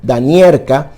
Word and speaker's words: Domeracka: años llamada halina domer en polaco domer se pronuncia danier esta mujer logró escribir